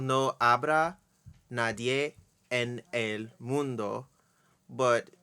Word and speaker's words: Nadie en el: Like it's called No Abra Nadie en el Mundo, but she says Nadie and L all in almost one syllable. Mm. Like Nadiana, Mm. Nadiana. I can't even do But it.